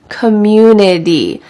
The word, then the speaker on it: community: local government community community notice that this T changes to a D in American English community I love the community